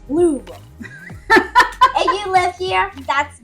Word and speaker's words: Louisville: next time if you go to Derby, don't say Louisville. It's Louisville.